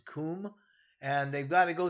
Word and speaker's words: Cwm: Valley known as the Western Kum right it's uh actually spelled cwm but it's pronounced Kum and they've got to